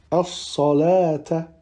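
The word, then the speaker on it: الصلوٰة: Ensuite, dans ces deux cas, on ne prononcera pas le waw, tel que dans au-dessus al-hayati ou bien as-salata.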